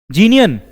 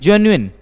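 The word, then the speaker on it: genuine: चलो, जीनियन, जेन्युइन, जिसको हम बोलते हैं जेन्युइन, जिसका करेक्ट प्रोनाउंसिएशन क्या होता है?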